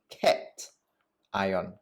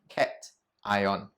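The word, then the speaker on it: cation: a special name and it is called a cat ion okay pronounce it with me cat ion now how do i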